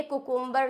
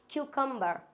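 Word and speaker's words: cucumber: कुकुम्बर का exact pronunciation होता है क्यूकम्बर। क्या होता है? क्यूकम्बर, नॉट कुकुम्बर, इट्स क्यूकुम्बर।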